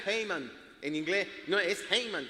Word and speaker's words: Haman: Y se pronuncia Haman en inglés.